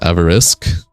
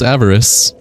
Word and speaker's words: Avarice: It's pronounced Avarisk. No. It's just pronounced Avarice.